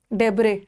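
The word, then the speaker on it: debris: Siesta, डेब्रे, डेब्रे इसका है silent.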